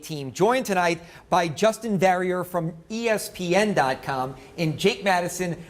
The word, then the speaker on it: Verrier: Verrier would be the way that New Orleanians would pronounce it.